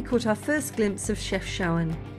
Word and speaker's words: Chefchaouen: Then we caught our first glimpse of Chefchaouen. Forgive my terrible pronunciation in this video. It's Chefchaouen, but to be fair, there's a lot of vowels in there. So we've just arrived in Chefchaouen, and it's called the Blue City.